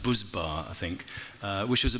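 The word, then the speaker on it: Buzbağ: I've subsequently been told it's actually pronounced Buzbar, I think, which was a big sort of volume brand. And is that right, Buzbar? How was my pronunciation? It's one of those invisible Gs.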